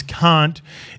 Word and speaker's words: Cant: Thomas Cant is the new face on the bench because he can. Where do you spell that? C-A-N-T. Thomas Cant. Can't.